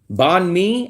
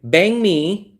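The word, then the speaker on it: bánh mì: and I'll say nare there's definitely no R in it. I do not hear an R bon me.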